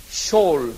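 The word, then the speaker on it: Sheol: 쇼올 그래요. SHOEL. 쇼올 그러는데요. 한번 발음해 보세요.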